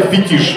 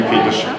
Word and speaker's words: фетиш: И правильно, кстати, фетиш, а не фетиш. Это фишка ударения.